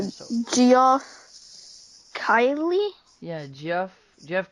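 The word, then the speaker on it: Keighley: Geoff Kylie? Yeah, Jeff Carley.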